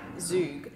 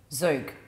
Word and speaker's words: zhoug: what does this say the word is typically pronounced like zug yeah but with a strong back of the throat imitation in the first part zook that's what i'm [